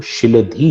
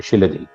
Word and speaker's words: शिलधी: नाम जो है, वो शिलधी है, शिलधी। अंग्रेजी में उसको स्पेलिंग लिखे तो SHILADHI होती है, शिलधी।